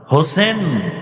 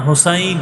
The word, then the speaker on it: হোসাইন: হোসাইন রাদিয়াল্লাহু তাআলা আনহু হোসেন না হোসাইন নাই। আমাদের দুঃখ যে অনেক মানুষ নামটাও সুন্দর করে উচ্চারণ করে না।